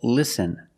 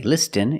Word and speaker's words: listen: t is silent example listen and fasten you see s t n with this spelling pattern you can see the t is silent listen we don't say listen it's listen and fasten example fasten your